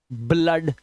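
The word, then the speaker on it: blood: गया समझ में तो लेकिन कुछ वर्ड्स में डबल ओ का उच्चारण आ और ओ भी होता है ब्लड आ की आवाज ब्लड आ की आवाज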